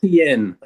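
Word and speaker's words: Etienne: For those that don't know, the new pronunciation. Yes. Not Devon Aeen. This is Travis Asen. ATN.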